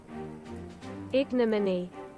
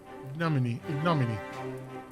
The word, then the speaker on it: ignominy: I need to look at how to pronounce that. Wait, here it is, okay? Ignominy. Ignominy.